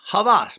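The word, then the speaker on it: Hawas: amazing don't sleep on havas okay h-a-w-a-s but pronounced havas by rasassi and it's like 42.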